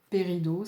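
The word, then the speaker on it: péridot: vous pouvez vous procurer donc cette pierre, hein, Pérido, ça s'écrit P-E-R-I-D-O-T.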